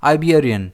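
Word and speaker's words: Iberian: इसे हम प्रोनाउंस कैसे करेंगे? आइबेरियन। इसमें स्ट्रेस बी पर रहेगा।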